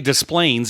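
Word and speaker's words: Des Plaines: cuz it's you know they say Desplains even though it should be like Dain right the French pronunciation but uh I don't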